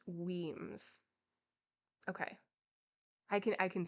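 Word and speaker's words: Wemyss: single time let's see let's see how to pronounce the name wenis women's okay Weems it is thank you noodles thank you okay it's pronounced Weems okay I can I can say that hello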